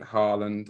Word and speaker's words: Haaland: And Haaland, or Haller, as I used to call him. Haller. We're going back a long way. You could not pronounce his name for toffee.